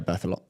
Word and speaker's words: Berthelot: I'm gonna pronounce this. I think it's Berthelot. Yeah, Berthelot.